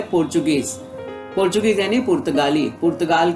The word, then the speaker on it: Portuguese: अब यहाँ पर स्पेलिंग में बच्चों आप देख रहे हो PORTUGUESE, तो आपको ऐसा लगता है कि इसका उच्चारण पोर्तुगीज भी हो सकता है, लेकिन नहीं। इसका हमें ध्यान देना है कि यहाँ ट नहीं है, त नहीं है, यहाँ च है, पोर्चुगीज।